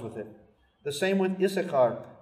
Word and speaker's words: Issachar: The same with Issachar. Issachar is always written with two scenes. You're only supposed to pronounce one.